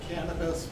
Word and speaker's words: cannabis: then in the Greek the more familiar cannabis the accent on the first syllable this talk is the